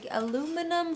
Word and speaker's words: aluminum: ball of aluminum foil?